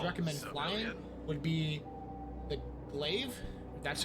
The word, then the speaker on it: Glaive: The number one ship that I would recommend flying would be the Glaive. That's how you pronounce it.